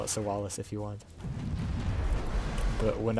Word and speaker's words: Sowales: Which is the canon pronunciation, by the way. I mean, you can call it Sowales if you want.